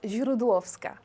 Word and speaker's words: Źródłowska: com es diu el teu cognom, com es pronuncia, vaja. És Źródłowska. Źródłowska, bueno, Źródłowska, ho he intentat, eh?